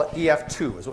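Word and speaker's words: EF-Tu: tu we call it ef2 is what we call it although I emphasize it's it's Tu is the way that it's spelled okay ef2 all right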